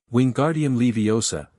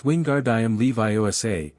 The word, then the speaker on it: Wingardium Leviosa: Wingardium Leviosa, he shouted, waving his arms like a windmill. You're saying it wrong, Harry heard Hermione snap. It's Wingardium Levi. Make the gar nice and long.